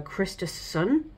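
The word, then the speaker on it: Kristersson: of Sweden Al uh Christ sun I don't think you need to pronounce both S's and also the leader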